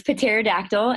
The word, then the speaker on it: Pterodactyl: you get to see pterodactyl we pronounce the petite P in potato for record so it's Patera dactyl and she's a special-needs